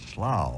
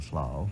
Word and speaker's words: Slough: of his life, which was a place called Slough, I think you'd pronounce it, S-L-O-G-H-O-U-G-H in England, this tube, this great telescope tube, lay in the backyard of his home in Slough for many, many, many, many years.